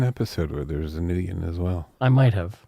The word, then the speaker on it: Nguyen: It's Nguyen, and it's pronounced Nguyen.